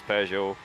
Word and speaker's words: Peugeot: Yi last night about our pronunciation of Pujo. Oh, yeah. I just had to explain. You know, we know it's Pejo, but you know, we can't say it like that.